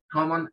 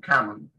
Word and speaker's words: common: Common en inglés británico, en inglés americano dicen common, ¿sí? La O la pronuncian en este caso un poco más abierta, ¿sí?